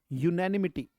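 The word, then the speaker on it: unanimity: Next बेटा, let's move to the next word now, यूनैनिमिटी word आ गया, यूनैनिमिटी, यूनैनिमिटी, शाबाश, यूनैनिमिटी, ये उच्चारण है यूनैनी, यूनैनिमिटी, यूनैनिमिटी, यूनैनिमिटी, इसका मतलब है एकमतता।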